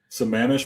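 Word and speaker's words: Sammamish: So, I have your hometown in here because I have to try to pronounce this. Give it Give it a run. Samish, Washington.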